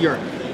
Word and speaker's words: Eric: your name correctly, because it looks like Eric, but it's pronounced Urick. Right. I have an accent and a U over the E, because my mom's freaky deaky Dutch. Ah. So it's pronounced Urick, but it's right. spelled like Eric.